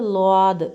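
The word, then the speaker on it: ضاد: സ്വാദ് സ്വാദ് സ്വാദ് അടുത്തത് ളാദ് സ്വാദ് എന്ന് പറയുന്നതിന്റെ മുകളിൽ ഒരു ഡോട്ടും കൂടെ കൊടുക്കുമ്പോൾ ളാദ് എന്ന അക്ഷരം ളാ എന്ന ശബ്ദം വരും അടുത്തത് ത്വാ നമ്മുടെ ബി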